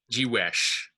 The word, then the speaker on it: jiwesh: Let's say jiwesh, right? Jiwesh, right? That the stress is falling on the wesh, right? Because it's the final syllable.